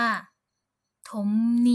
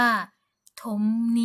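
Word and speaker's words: 톱니: ภาษา เกาหลี เรา ก็ จะ ออก เสียง ว่า ถม นี่ ถม นี่ ก็ คือ ฟัน เลื่อย นั่น เอง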